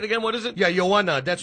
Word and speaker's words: Joanna: Yeah, Joanna. That's how we pronounce it.